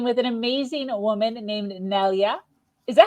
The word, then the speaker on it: Nelia: Today, I'm speaking with an amazing woman named Nelia. Is that how I pronounce that? Yes, Nelia is perfect. Yes. All right. Nelia lost her father in 2005 and at that